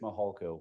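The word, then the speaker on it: Mihalko: court reporter you bet my name is mahalco good morning I'm a commander with the El Paso County Sheriff's Office my last name is spelled m-i-h-a-l-k-o first name thank you Mr mohalco um you said that you're a commander with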